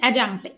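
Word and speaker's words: adjunct: Next synonymous হচ্ছে অ্যাজাঙ্ক্ট, ডি এর উচ্চারণ হবে না এখানে। অ্যাজাঙ্ক্ট মানে কি অ্যাড করা, অ্যাড করা মানে কি অ্যাডিশনাল এর অর্থ।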